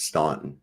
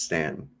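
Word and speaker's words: Staunton: was from Stanton Virginia it's spelled like Stanton and that's how we can always tell Yankees they always call it Stanton it's Stanton that's another uh interesting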